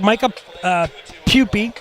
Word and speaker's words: Micah Pupey: I like Micah Pupey. Is that how we say his name? That's how you say it.